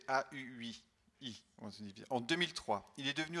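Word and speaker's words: Haüy: Il a ensuite exercé différentes responsabilités en bibliothèque avant de rejoindre la médiathèque bien connue de l'association Valentin AUI, prononcée AUI.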